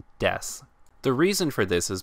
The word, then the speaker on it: desu: sound a bit more we bish it is pronounced desu the reason for this is because there are